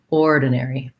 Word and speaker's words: ordinary: actually an or and we say it with stress so we have a little bit of length on that first syllable ordinary ordinary uh then we have this ar says the air diphthong so sometimes ar says er sometimes it says r in this case it says air air like in care or fair so we we would